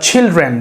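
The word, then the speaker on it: children: দ্য চিলড্রেন একটু মনে রাখবো আমরা, দ্য চিলড্রেন না বলে যদি ছ উচ্চারণ করেন তাহলে উচ্চারণটা আরও স্ট্যান্ডার্ড হবে। দ্য চিলড্রেন, যেমন দ্য চাইল্ড, দ্য চিকেন।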